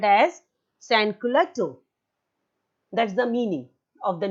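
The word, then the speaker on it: sans-culotte: Maybe the spelling is written and there is a hyphen, but that is spelled or pronounced together. Sansculotte.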